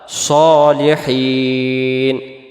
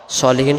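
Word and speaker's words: صالحين: আলাইনা ওয়ালা ওয়ালা মানে উপরে ইবাদিল্লাহিস আল্লাহর বান্দার সালেহীন নেককার বা সৎ সলিহীন শব্দের অর্থ হলো নেককার বা সৎ তাহলে এটাকে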